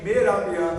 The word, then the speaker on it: Mehrabian: O Albert Mehrabian é húngaro, por isso a pronúncia assim, tá?